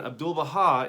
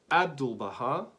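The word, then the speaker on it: 'Abdu'l-Bahá: abdul baha now again abdul baha is for syllables right and trying to understand where is the emphasis so do we sing abdul baha or do we sing abdul baha or do we sing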